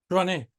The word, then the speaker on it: Jouannet: La J hay que pronunciarlo un poquito más fuerte. Yo lo aprendí en Europa, eso, pues yo también lo pronunciaba así, Joanet, hace que una francesa me dijo un día, no, se pronuncia de otra forma. La J se pronuncia como una R.